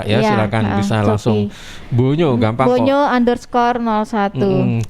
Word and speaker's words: Bonyo: Bonyo gampang Bonyo kok. underscore 01. Kita pelafalannya, pronounce-nya bonyo ya. Bonyo. Itu tulisannya O bukan U ya, bonyo gitu bonyo. ya.